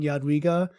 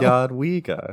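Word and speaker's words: Jadwiga: I feel like I should make a 2-second video of just you saying Yadwiga and somehow get it on the Pathfinder wiki as like the official pronunciation video. Yadwiga.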